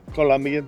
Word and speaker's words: Colombia: Colombian? Colombia. Colombia. Without the U, I know, not a U.